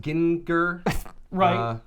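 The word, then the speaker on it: Gin-Gr: and they're trying to it's actually pronounced Ginn ker-rah yeah that's right yeah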